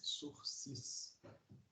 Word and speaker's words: sursis: da pena além chamada surfes web S URSS sursis mas a pronúncia fala no próximo o celular se se